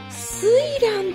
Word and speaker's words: 翠嵐: け、わかったよ、水蘭って読むんだって。